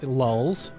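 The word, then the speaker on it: lulz: so important lolz or l-u-l-z which phonetically again lulls lulls l-a-w-l-z did it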